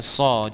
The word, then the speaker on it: soul: rumah ya Oke I so bacanya ingat ya Soul jangan show ya seringkali kita salah